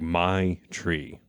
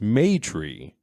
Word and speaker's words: Maitri: So it sounds like my tree. Then I was told that the company is run by all females and that it's pronounced Maytree, as in short for matriarch.